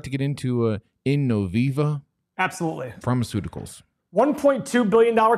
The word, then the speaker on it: Innoviva: check mark there is it in novi i can't pronounce this stuff you know it's innoviva innoviva thanks thanks bro um wow wait what